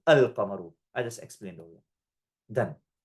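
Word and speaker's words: القمر: And huruf al-qamariyah are those letters, when al precedes them, the lam is pronounced with a sakin, al-qamaru.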